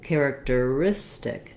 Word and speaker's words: characteristic: primary stress any longer the stress changes from character long short short to characteristic characteristic where my length and my stress is really on the second to last syllable so i have the